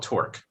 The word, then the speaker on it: torque: for the word torque t-o-r-q-u-e right yes the the qu sounds like a k yeah have you ever